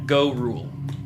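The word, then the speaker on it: Gorul: Gorru. G O R U L U L. Yeah. Yeah. Gor rule.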